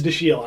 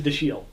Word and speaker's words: Dashiell: Is that the right pronunciation? It's not Dashiell? It's Dashiell. I know. Like Dachshund? You first said it, I'm like, Dachshund? Dashiell, but maybe I'm wrong. That's how I used to say it. I had to check it. It supposedly actually is Dashiell.